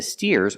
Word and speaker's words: steer: two steers and the steers are helping the farmer steer with a long e sound like beer and clear steer let's practice what is